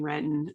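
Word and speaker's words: Renton: area i think in retin um uh which we don't pronounce the t in it so uh but yeah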